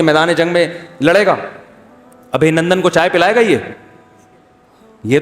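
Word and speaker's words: ابھینندن: کسی نے بتایا ابھی نندن ہے, ابھی نندن نہیں ہے, صحیح تلفظ کیا ہے بھائی, ابھی نندن.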